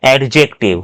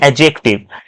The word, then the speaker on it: adjective: When D comes between A and J, it becomes silent. Like adjective, most of you tell adjective, which is wrong pronunciation. So we have to say adjective.